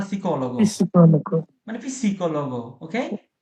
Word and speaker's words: psicólogo: মানে ওটা হালকা হয় যে হ্যাঁ, পিসিকোলগো মানে পিসি না, মানে পিসি মানে একসাথে, হ্যাঁ, পির উচ্চারণ হবে কিন্তু এরকম না সিকোলগো, psicólogo, মানে পিসিকোলগো, ওকে, পি হালকা পির উচ্চারণ হবে কি আরো, chiaro, sì, sì, ওকে, bene.